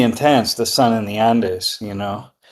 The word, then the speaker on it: Andes: Ah, okay, but it's pronounced Andes.